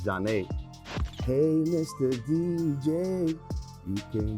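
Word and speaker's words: Zhané: I remember they was getting tight because people didn't know how to pronounce their name right. Zhane, they were saying Zhane. It's Zhane.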